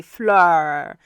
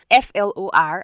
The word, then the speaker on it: Flor: So it's supposed to be Flor, Flor, and then you roll your tongue to sound the R and all of it.